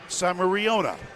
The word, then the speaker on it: Samariona: And she said, "You pronounce my first name Samariona."